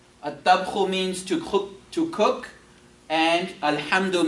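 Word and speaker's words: الطبخ: You say at-tabkhu. At-tabkhu.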